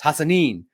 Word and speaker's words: Hassan: Um I got to say I I do know being Middle Eastern how to say it. It just it's when when you think of it in your head, it just you you typically you want to say it how you how you spell it. But it's Hassan.